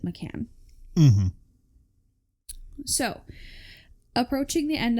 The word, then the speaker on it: McCann: double checked that um I believe the the parents pronounce it Macan mhm so approaching the